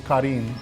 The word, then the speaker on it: Karin: But I mean, if you want to say correctly, it's Karin. That's how people pronounce Karen, but whatever, it doesn't matter.